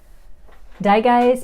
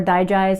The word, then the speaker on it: Digize: dye guys essential oil or digize as some people say whenever you're curious about how to pronounce this essential oil name just think of digestion this oil is great